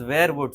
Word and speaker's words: Werewood: so WER were in Old English means man. So Okay. man from the woods is one way Oh, to look at it, and the pronunciation is werewood. So you can wear the fragrance from the woods.